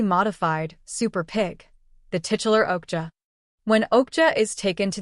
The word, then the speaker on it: Okja: Okja, Korean, pronounced Okja, is a 2017 science fantasy action-adventure film directed